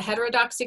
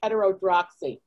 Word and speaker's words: heterodoxy: like something like the heterodoxy club which is a club that my character stumbles upon in the ground i couldn't pronounce it i just read it like heterodroxy heterodoxy might have it here and